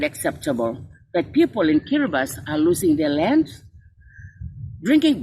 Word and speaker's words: Kiribati: And just this afternoon, I was reminded that Kiribati should not be pronounced as Kiribati, but rather as Kiribati, the only country that